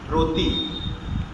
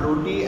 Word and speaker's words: rôti: Rôti. It's not roti as our Indian bread, it's rôti, means roast in French.